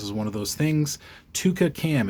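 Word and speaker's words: twca: one of those things Tua cam it's spelled TW WCA and that is again it's a Welsh word so um this has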